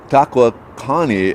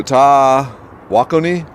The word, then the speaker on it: Tawakoni: beyond caring all right i was at the welcome center in texas asking best route to lake takwa connie and was told right away not to say it like i did in front of the locals so tah wakoni tawakuni oh man i carry the